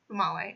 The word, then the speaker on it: Female: Her name is Famale, female, but pronounced Famale.